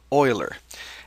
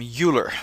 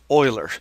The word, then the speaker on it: Euler: his name is Leonard Oiler and it is common mistake among students to call call him uler but actually because of his ethnic origin uh his last name is actually pronounced Oiler just let the Oilers